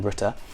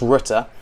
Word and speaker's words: Rutte: And even today, the leaders of one of these countries, the Dutch Prime Minister Rutte, I think you say his name Rutte, he said he is